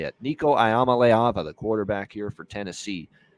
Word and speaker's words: Nico Iamaleava: number 1 guy full-time this year, and that's Nico Iamaleava is how you say it. Nico Iamaleava, the quarterback here for Tennessee, really looked good in the bowl game.